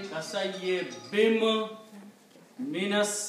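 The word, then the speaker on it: كَصَيِّبٍ مِنَ: So now there is a shadda, so you're combining kasayye bim minas samai. Okay? That's how to pronounce it.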